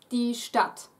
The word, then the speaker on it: Stadt: Ignore the D, it's pronounced exactly as if it were two T's standing there. Die Stadt.